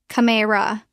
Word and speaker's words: camera: Camera. Natural pronunciation. We drop the e. It becomes two syllables.